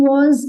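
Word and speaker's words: は: So that was retained as it is. So the thing which we need to remember is after topic marker will appear, and that is HA, but we will pronounce it as WA.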